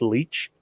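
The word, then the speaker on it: Leitch: was uh david uh i think his last name is pronounced leech um who went on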